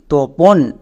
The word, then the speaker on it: Tapan: TAPAN, তোপন। এবার ইংরেজিতে এই নামটাকে তাপান উচ্চারণ করা হয়, তাই আমি একদম শুরুতে বললাম যে তোপনও নাম, তাপানও নাম।